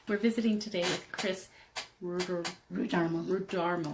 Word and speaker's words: Rudarmel: We're visiting today with Kris Rudarmel. Rhymes with Darmel.